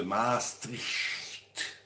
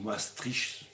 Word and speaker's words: Maastricht: Non, on vous emmènera un peu visiter le centre de Maastricht. Ou Maastricht, tout dépend comment vous prononcez.